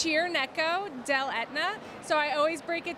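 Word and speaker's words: Cirneco dell'Etna: moment how do you pronounce it it's it's pronounced cheer neck Oh del Etna so I always break it down for people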